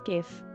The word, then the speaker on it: GIF: How do you pronounce GIF? With a hard G.